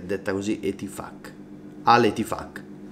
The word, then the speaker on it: Al Ittihad: Al Ittihad. E c'è la Q finale, si legge così, e cazzacci vostri se avete un nome con un doppio senso, non lo so, vabbè.